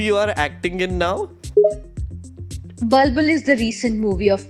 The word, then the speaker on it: Bulbul: It has an U, you see? The vowel you missed it.